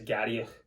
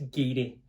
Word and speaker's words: Garioch: When you look at it, you think it says Garioch, but it's Garioch. It would definitely catch you off if you'd never seen it before or someone hadn't told you how to pronounce it.